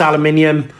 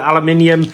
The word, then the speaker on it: aluminium: but uh yeah you we call it aluminium you call it aluminum um it's the same